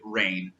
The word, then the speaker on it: RAEN: kind of twofold so reign stands for the end that anagram of research and agricultural technology naturally but they also wanted it to be pronounced and sound like rain like what you would